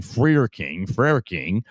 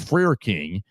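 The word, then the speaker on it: Frerking: If you type in Grant Freer King, I think is how we're going to say his name. F-R-E-R King, Freer King.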